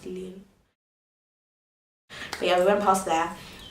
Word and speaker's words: Lille: to in so-called Lille live there like it's pronounced leelu the other one passed there and we also